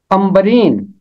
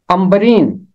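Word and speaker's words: عنبرین: अंबरीन। नून और बे है, ऐन के बाद आवाज बन जाएगी मीम की, अंबरीन।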